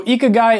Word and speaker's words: ikigai: got a lot of comments that i wasn't pronouncing this right when i mentioned it in some of my other videos so ikagai is the japanese formula for happiness and it